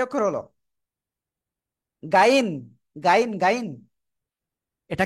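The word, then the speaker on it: غين: দেখেন অনেকে না একটা জিনিস ভুল করে, এই গহিন রে গাইন বলে।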